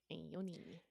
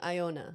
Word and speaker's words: Ione: Ione. See, I have been saying Iona.